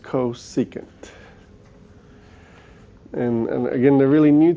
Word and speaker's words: cosecant: to the same colors um cosecant CSC it's pronounced cosecant and again they're really new to you but